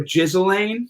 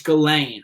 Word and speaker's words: Ghislaine: a weird name i i used to call jizzlane whatever i was calling her too yeah you found it out you know i'm teaching my kid phonics and no it's galen okay galen all right